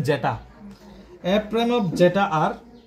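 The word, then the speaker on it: zeta: summation of R equals to ওয়ান টাপ টু এন F prime of জেটা আর, F prime of জেটা এটা হচ্ছে জেটা, এটার উচ্চারণ হচ্ছে জেটা, এফ প্রাইম অফ জেটা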